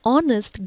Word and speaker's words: honest: We use an before words that begin with the letter H, which is not pronounced. An honest girl, an hour late.